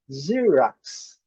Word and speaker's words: Xerox: Eles pronunciam Xerox. Xerox. Olha esse som. Xerox. Xerox. Esse primeiro X com som de Z.